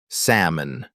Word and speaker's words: salmon: Some English words are tricky because they look one way but sound completely different, like salmon. We don't say the L.